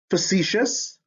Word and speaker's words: facetious: right great next one facetious ostentatious precocious precious hey what's the spelling pattern here in words derived from latin c or t before the suffix i o u s sounds like shus now this i o